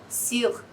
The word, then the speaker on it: sur: Eu não fecho a minha boca pra falar U. Eu falo com um meio sorriso, assim. Sur. Je suis sûr. D'accord? Ou cuisine. Cuisine. Você pode falar tudo sorrindo.